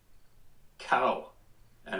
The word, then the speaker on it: Cohen: My name is Cohen, pronounced cow and an cow and an N. Cowan.